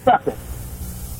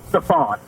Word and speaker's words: Stephen: I have Stephen Curry sitting in front of me, broken down phonetically, Stephen. And my mind and my mouth, it came out, Stephon.